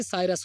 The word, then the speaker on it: cirrus: वायरस से साइरस याद रखो, साइरस आप अपने याद करने के लिए इसको साइरस प्रोनाउंसिएशन करिए।